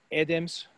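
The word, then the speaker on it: ედემს: growing um uh so again edems stress on the first syllable and this is going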